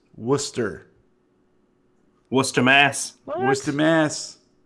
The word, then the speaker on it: Worcester: mentioned Deerfield New Hampshire is terrifyingly close and we're Chester Massachusetts is pronounced Worcester Worcester Mass where's the mass so there is